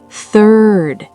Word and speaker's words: third: This has 2 insane sounds, the th and the r. Third.